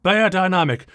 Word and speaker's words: Beyerdynamic: Yes, I said Bayer Dynamic with apologies to the spirit of company founder Oen Bayer. Come on. There are lots of words we pronounce differently in English or American English than their original local pronunciation. And I've heard Bayer and never buyer professionally going back to the 1980s. I'm going to stick with it.